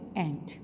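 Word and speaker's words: ant: ठीक है, इसको आंट हम नहीं बोलेंगे। आंट जो है वो हम बोलते हैं चची को, मुमानी को, ताई को, उसको हम आंट बोलते हैं, लेकिन इसकी जो करेक्ट प्रोनाउंसिएशन है वो है एंट।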